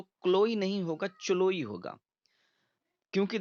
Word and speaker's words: Chloe: क्लोई की spelling देख लीजिए आप, CHLOE, क्लोई। अब इसको आप चलोई तो नहीं पढ़ेंगे, क्लोई है ये।